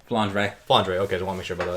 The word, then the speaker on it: Flandre: How do you pronounce the name? Flandre.